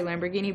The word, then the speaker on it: Lamborghini: Не знаю, чому українці мовляють там «дж». Але й в Італії, звідки ця машинка родом, і в Америці ви почуєте «ламборгіні». Spaghetti, linguine, fettuccine, ravioli, rigatoni, ferrari, lamborghini, bucatini, lasagna.